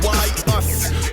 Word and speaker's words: Aesop: It's Ace, pronounced Y-us.